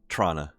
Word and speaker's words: Toronto: Or if we're going to pronounce it correctly, Trana. Trana? Trana. Well, then in that case, it's New York. Trana is how they say it in Trana.